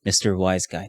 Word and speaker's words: Mr. WhyzGuy: how to pronounce my name properly so yes Mr wise guy that's how it's pronounced thank you very much I caught him